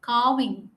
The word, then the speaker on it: carving: see R is pronounced the pronunciation of R depends on what it's followed by if a vowel comes